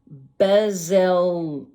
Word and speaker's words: Bezalel: Bezalel Bezalel.